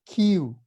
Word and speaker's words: kiu: So in Proto-Polynesian, there was a bird that everybody putting in all the evidence together was pronounced kiu, kiu.